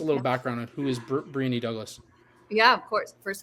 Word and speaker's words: Briony: give us a little background on who is breny Douglas yeah of course first of all thank you for Pro pronouncing my name right um I I've been